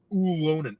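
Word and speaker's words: Ylönen: alone in his house I was told to pronounce Jesse Lunen oolonen ooh so the Y like a EU loaned has no goals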